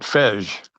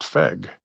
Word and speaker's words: FEG: and in that case the g is a hard g so it's actually pronounced feg which is kind of